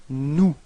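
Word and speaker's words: nous: person of the plural it's new repeat no okay so you've got this final s but you don't pronounce it okay new mhm and then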